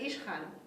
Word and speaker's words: Ishkhan: In Russian, in his name, this KH is a sound. He pronounces it Ishkhan. And I think in some Arabic names, the KH is, that makes that sound.